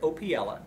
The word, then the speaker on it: Opiela: 60 Mi southeast of San Antonio it's opella it's e r i c opella op i